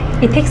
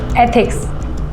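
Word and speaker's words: ethics: इथिक्स नहीं, एथिक्स ऐसे pronounce करो।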